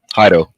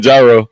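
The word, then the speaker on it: Jairo: that's right so uh now now Solace um pronounce his first name for me haido haido yes i' I've been all often think you been saying gyro yeah like so hio yes hio it's j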